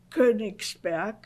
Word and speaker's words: Königsberg: Also Königsberg. And could you spell that, Königsberg?